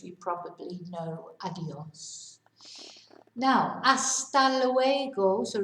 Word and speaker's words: hasta luego: Now, hasta luego, so remember we don't pronounce the H, so it's hasta luego.